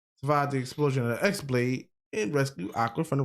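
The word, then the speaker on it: χ-blade: X-Blade. It's just pronounced like Keyblade, even though it's just one Keyblade.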